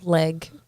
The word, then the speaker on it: Legge: How do you pronounce the last name? Legge.